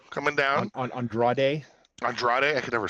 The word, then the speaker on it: Andrade: we got Jimmy Uso we got Andre right Andre coming down Andrade Andrade I can never say his name there's too many syllables well the the the the the big